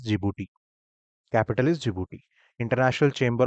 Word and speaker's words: Djibouti: Okay, this is pronounced as Djibouti.